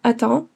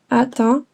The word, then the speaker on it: attends: And I'd capitalize this meaning that I would pronounce it as the letter in the alphabet. It's the ah sound. In French, it's A B C. The ah sound, you're going to use here.